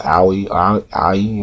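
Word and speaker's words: Ouya: and i think it's the other box is pronounced howie ie or something like that o-u-y-a i mean it's it's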